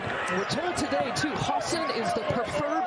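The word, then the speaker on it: Hausen: with the rebound and we're told today too Hassan is the preferred pronunciation for Brendan Hassan he's a freshman sometimes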